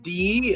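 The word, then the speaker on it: Dee: I taking that spelled D. It's pronounced D.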